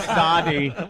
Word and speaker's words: Sade: The Sadi. You pronounce the E.